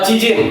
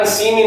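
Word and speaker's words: 知人: Terus nomor lima itu adalah cijin ya. Cijin itu artinya adalah kenalan. Oke, kenalan ya bukan sinin teman-teman ya. Hati-hati ya, cijin bacanya.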